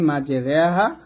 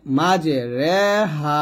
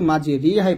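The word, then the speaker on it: مجراها: ঋ পড়া যাবে না রও পড়া যাবে না তাহলে বলতে হবে রে তাহলে বলবেন বিসমিল্লাহ আয়াতটা হবে বিসমিল্লাহি মাঝে রেহা অমুসাহা তো আমরা এখানে মাঝে রেহা বলবো মাজে রে হাহা রেহা বলবো এটা আপনারা অবশ্যই মনে রাখবেন তো যদি আপনি না জানতেন তাহলে কিন্তু আপনি এই আয়াতটা যখন পড়তেন তখন কিন্তু মাঝে রিহাই পড়ে ফেলতেন তো এটা ভুল করতেছেন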